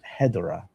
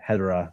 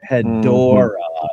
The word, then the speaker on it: Hedorah: Nope. It's Hedorah. And actually I say it like Hedorah, all even like that too. Not Hedorah. Right. Hedorah.